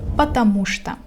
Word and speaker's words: потому что: Pay attention to the pronunciation of this word because it has two words in it, but I pronounce it as one.